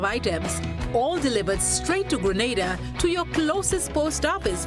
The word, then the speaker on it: Grenada: So today, like we Germans say, we are in Grenada. But I heard in English it's called Grenada.